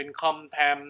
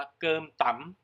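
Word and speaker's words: Cơm tấm: นะ ครับ เขียน ว่า เรา คน ไทย อาจ จะ อ่าน เป็น คอม แอม นะ แต่ ว่า จริง ๆ แล้ว เนี่ย ต้อง อ่าน ว่า เกิน ต่ำ นี่ ก็ เป็น อาหาร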